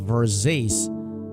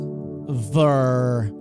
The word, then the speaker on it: Versace: Marvy Pro, the correct pronunciation of Versezi is Versezi, with the emphasis on the second syllable and a distinct she sound at the end.